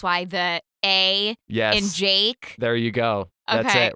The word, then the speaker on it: JVKE: used to be like I was like who's javock it's like Java and Tony my co-host would be like can you stop it's Jake and I was like I'm forever calling him